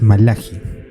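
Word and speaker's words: מלאכי: el libro de malaquías cuya pronunciación fonética directa del hebreo es malaji les voy a hablar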